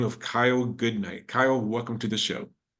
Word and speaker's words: Goodknight: that well my name's Kyle goodnight um spelled with a K in the middle that's why I'm Kyle